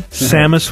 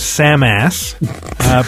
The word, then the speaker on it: Samus: Samus was Samass.